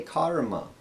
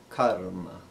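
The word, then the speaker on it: कर्म: would be karma karma lot of people they say karma like a car you're driving karma but really it it's a not the long ah sound it's a karma so next would be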